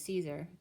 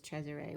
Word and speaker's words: Cesare: had named my child Cesare which is Caesar the way it's pronounced in Italian and I didn't actually